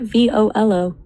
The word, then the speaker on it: Volo: But you can actually rank for what about V O L O V O L dot? It's two syllables. It sounds like volunteer or velocity.